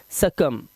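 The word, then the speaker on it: succumb: थम ब नहीं कर ना है ऐसे ही सकम सकम मतलब मर जाना तो यहां पर जो वर्ड्स आपने देखे इस बी साइलेंट थे अब यहां पर देखिए यह टी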